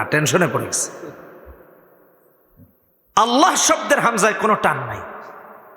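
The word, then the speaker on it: الله: কয় হ কতজনে কয় না টেনশনে পড়ে গেছে আল্লাহ শব্দের হামজায় কোন টান নাই ভালো করে বুঝেন হামজা লাম জবর আল হরকতের উচ্চারণ তাড়াতাড়ি করতে হয় সে আল্লাহু আকবার বলে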